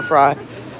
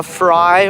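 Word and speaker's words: Frei: shout out to viva viva fry or fray however it's pronounced i think it's fry yeah definitely go sub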